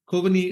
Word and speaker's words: Kovini: talk with Nolan and I hope I am pronouncing your name correctly to start off with it's perfect kovani is perfect so thank you so much Nolan